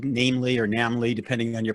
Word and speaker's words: NAMLE: How do you pronounce it? It's NAMLE. NAMLE. I didn't want to interrupt, but it's definitely NAMLE.